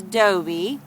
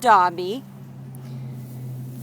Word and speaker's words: Dobie: I've been saying his name wrong. His new owner in Arkansas corrected me on his name. His name's Dobie, not Dobby.